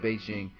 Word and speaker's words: Bigen: know what you thinking it's pronounced Beijing but the founder calls the big and so i'ma call it big so right here you're